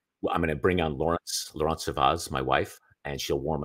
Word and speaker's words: Laurence Servaes: I'll bring on Laurence Servaes, and how do you say it? Laurence Servaes. I like that better.